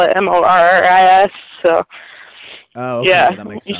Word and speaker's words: Moras: name is Morris right honestly like every one of my family pronounces it differently so I don't even know that's the thing I swear I have been trying to figure this out all season but they keep pronouncing it so many different ways finally I found a video where you actually said your name so that's why I went with Morris was it at least